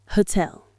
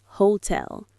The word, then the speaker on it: hotel: Hotel. The stress is on the second syllable. It's not hotel, it's hotel. Let that second part have the energy.